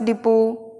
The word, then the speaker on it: depot: Next है DEPOT, बस डिपो, देखा होगा आपने, ये मीनिंग कई बार लिखी हुई, तो इसे बोलना है हमें डेपो, डेपो। फटाफट बोलेंगे तो डेपो, T साइलेंट हो।